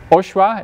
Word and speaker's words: OSHWA: the most important reason is that for uh oswa is how people pronounce it most of the time you're not